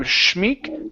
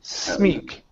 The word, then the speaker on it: Smeek: Jonathan Smeek instead of Schmeek. Smeek. Jonathan Smeek. That's the sound.